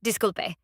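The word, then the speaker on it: disculpe: Disc. Three syllables. Disulpe.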